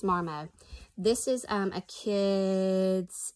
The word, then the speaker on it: Marmot: marmite i've heard both i really think the tea is silent i think it's marmot this is um a